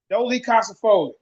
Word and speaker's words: dolichocephalic: Dolichocephalic.